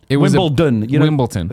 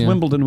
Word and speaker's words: Wimbledon: In the movie Wimbledon, Wimbledon. It's so weird how Americans, even though it's clearly spelled with a D, Americans all say Wimbledon.